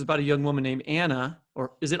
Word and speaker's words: Ana: of longings is about a young woman named Anna or is it honor what's the right pronunciation I've just been reading it Anna okay I'll say Anna Anna who becomes the